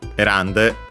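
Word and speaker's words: 選んで: And so yeah, actually the n stayed, and then it caused the voicing of the te also, so again, because de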